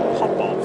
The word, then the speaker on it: Popov: And he said, we actually pronounce our name Popov.